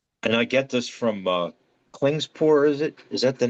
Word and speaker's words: Klingspor: And I get this from Klingspor, is it?